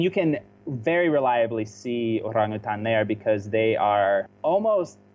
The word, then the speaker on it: orangutan: Yeah, because it's orang, which means person. And then it's kind of truncated. Hutan means forest. Forest person. So it's like person of the forest.